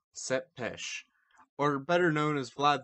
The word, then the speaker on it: Tepes: would eventually earn the name of Vlad Tepes pronounced set pêche or better known as Vlad the Impaler due